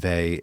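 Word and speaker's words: Weil: Peter when he talks about this one goes to the young thinker her name is Simone Vy and Vy is spelled we e i l and she lived in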